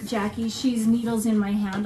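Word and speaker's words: Jaci: is um jackie sorry keep wanting to say jc because it's spelled j-a-c-i but um jackie she's needles in my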